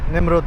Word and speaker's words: Nemrut: আর বেশিক্ষণ লাগবে না আমাদের সেই নিমরুদ পাহাড়ে পৌঁছাতে। বলে রাখি ইংরেজিতে এটা নেমরুদ উচ্চারণ করা হয় লেখা হয় আর আমরা কিন্তু নমরুদ বলি আমি দুই ধরনের উচ্চারণ